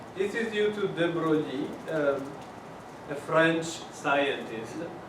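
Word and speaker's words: de Broglie: um a French scientist whose name tend to be destroyed when Americans try to pronounce it even way worse than mine. So sometimes I think anyway if you want to pronounce him correct that would be Droi.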